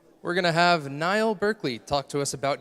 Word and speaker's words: Niall: It's pronounced Niall. It's a cool name. We're going to have Niall Burkley talk to us about user-centered API versioning.